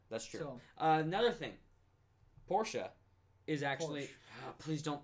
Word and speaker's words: Porsche: It's pronounced Porsche, but he likes to troll me and call it Porsche or Porch, and it's like the one thing that actually makes me...